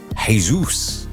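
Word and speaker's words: Jesús: service the church but it's probably not Jesus though is it's probably hey-zeus and you know like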